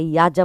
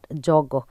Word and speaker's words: যজ্ঞ: এর মধ্যে বিবাহমা আমরা যেটা বলছি এটাকে যজ্ঞ বলে, বা আমরা এখানে ইয়াজা বলছি বাট যজ্ঞ।